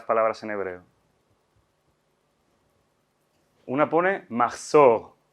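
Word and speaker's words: מחזור: Aquí está la pronunciación sefardí, que como ven es aguda, ¿no? Machzor, machzor. El yiddish tiende a hacer, el hebreo ashkenazi tiende a usar palabras llanas. Entonces ya no es machzor, sino machzer.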